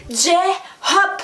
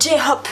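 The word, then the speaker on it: J-Hope: Là aussi, on prononce à l'anglaise. C'est J-Hop. Il y a peut-être un J, mais en anglais, on dit G quand c'est un J. Voilà, c'est J-Hop.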